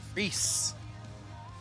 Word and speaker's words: Rice: 16 qualifier, number 2 qualifier, Ron Rice. Cape May Courthouse, New Jersey, Ron Reese. Reese. Spell it different up in this part of the world.